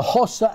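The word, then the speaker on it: Xhosa: Hossa is spelled with an X, X-H-O-S-A, and of course Zulu.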